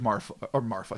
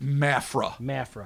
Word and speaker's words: Mafra: Florida Georgia line is Santa Catarina, okay, where in the city of Marfa. See, I'm saying it wrong already. Perfect. Mafra.